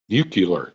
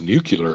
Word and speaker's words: nuclear: noticed when I said when I said nucular it's pronounced nuclear Lisa Josh noticed that that